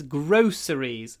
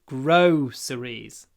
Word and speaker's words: groceries: groceries so produ is groceries when you pronounce this word just remember it begins with grow grow series grow with a W groceries grosseries don't miss the W